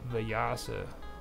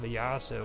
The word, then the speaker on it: Vyasa: I think what they're talking about is the Veda Vyasa, okay? And the Veda Vyasa, or Veda Vyasa, was the sage who compiled the Vedas.